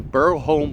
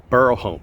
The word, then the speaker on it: Burholme: times we are in Burl home park I always want to include an L in Burl home but it's b h o l m e bur home bur home okay enough trying to